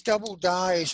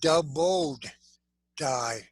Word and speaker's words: doubled die: viewpoint but all these double dies are so neat and i i have to stress again it's not a double die it's a doubled die a lot of people get that name wrong and it causes people